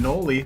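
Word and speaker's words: Knoli: And I'm Noli, the K is silent.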